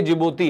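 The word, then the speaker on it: Djibouti: ध्यान रखेंगे D silent रहता है इसमें। ये जिबोती है।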